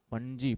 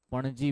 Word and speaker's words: पणजी: उसकी कैपिटल क्या है पंजी पंजी बोलते पाना जीी वैसे तो स्पेलिंग वसे पी ए एन ए जे आई पणजी बोलते हैं पणजी और मराठी में का